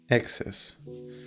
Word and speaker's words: excess: Yeah, there is like stress on the first two letters, like excess.